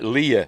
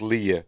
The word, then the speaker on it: Leia: Much like Leia is pronounced Leia when we see it in the series. Some people pronounce it Leia, some pronounce it Leia.